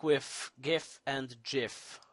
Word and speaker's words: GIF: never know like with gift and jiff although it's gif never never let you let yourself be fooled it's not jiff it doesn't start with a J it starts with G so it's gift like in good so